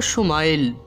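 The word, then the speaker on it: ישמעאל: সুখবর জানিয়ে দেওয়া হলো ইবরানী ভাষায় ইসমাইলের উচ্চারণ হলো সুমাইল সোমার অর্থ হলো শোনা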